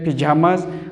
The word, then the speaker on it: pyjamas: Pronunciation में भी थोड़ा सा फ़र्क है, ये पिजामाज और ये पजामाज।